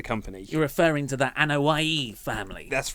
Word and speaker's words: Anoa'i: You're referring to the Anoa'i family. That's right, yes. I just said that because I know how to pronounce it.